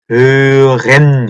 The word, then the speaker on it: hören: hören, 이거든. hören. 되게 발음 어렵죠. hören. 다시 한번. hören. hören. 그 발음이 목 안에서 나는 그 소리가 굉장히 어려울 수 있어요.